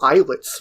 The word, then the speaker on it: Islets: through a Metroidvania called Islets recently, or Islets. I'm not sure how it's pronounced, but it's a Islets. I don't know. Islets. It's like small island, like isles. So islets. Yes.